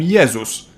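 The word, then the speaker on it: Jezus: favorite religious fig Jesus in Polish we call him yesus but if we were to pronounce his name the English way we'd write it down as Jesus and lastly G like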